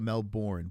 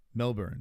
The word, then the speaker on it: Melbourne: scay Melbourne Melbourne I I always call it Melbourne but I think you're the person that got me into saying Melbourne which is the the appropriate way to say it right Melbourne Melbourne foot